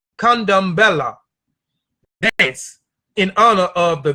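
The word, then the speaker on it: Candomblé: down Bala come down by the Portuguese pronounced condom Bella that's in other of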